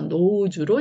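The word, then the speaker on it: nose: 기니까 장모음이라고 하는 거죠 자 그래서 now고요이 s는 역시 모험 사이에 끼어 있어서 지읒 빠릅니다 지읒 발음이고이 2는 모음이지만 소리가 없기 때문에 그냥 저 혼자 기본거린 우로 가야 된다 자 그래서 노우주로 읽게 되는 단어입니다 자 뜻은 다 아시죠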